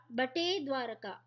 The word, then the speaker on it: Bet Dwarka: From Dwarka, visiting the Rukmini temple, Okha Bet Dwarka, pronounced as Bate Dwarka, Gopi Talab, and also the Nagnath Mahadev temple, and getting back to the starting point will be like a circumambulation.